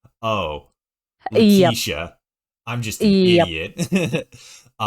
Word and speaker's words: Letitia: And then I looked at your thing on Discord where you actually like put the proper pronunciation. I'm like, oh, Yep. Letitia.